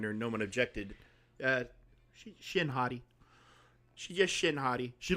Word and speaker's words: Shin Hati: minute uh discussion and we know it's pronounced Shin hot te but we just started calling her well I just started calling her no one objected uh Shin hottie she just Shin hottie